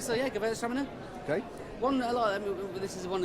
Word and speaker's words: Gewürztraminer: So we've tried a few whites, and now we're on to our third one, I believe, a Gewürztraminer. Perfect pronunciation as always, John. Gewürztraminer or Gewürztraminer, people call it.